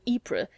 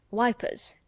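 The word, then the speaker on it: Ypres: it up and it's more like pascandala bless you all the tommies call it passchendale just as they're called ipra wipers how interesting you know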